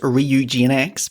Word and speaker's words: Ryujinx: to do yeah my personal pronunciation is ryujinx so that's probably what i'm going to end up calling it officially it's ryu gnx but um i don't know anyone who actually calls it that um so yeah rory